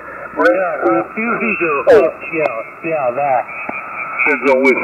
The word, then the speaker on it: Refugio: No, the correct Spanish pronunciation is refugio. Refugio.